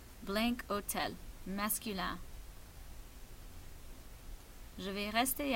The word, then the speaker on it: hôtel: Pour hôtel, hôtel c'est masculin, c'est singulier, mais ça commence avec un H muet ou un H silent. Alors, ça fonctionne comme une voyelle. Alors, pour ça, je vais mettre cet hôtel.